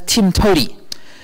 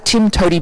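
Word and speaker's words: TIMTOWTDI: to do it um that acronym commonly gets pronounced as Tim to now to the rescue to solve your objectoriented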